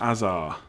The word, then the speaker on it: Hazard: Hazard should be pronounced Azar.